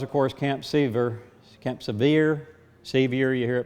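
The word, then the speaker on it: Sevier: course Camp SE Camp severe se you hear it pronounced a lot of way severe seems to be the most popular in South Carolina that is now a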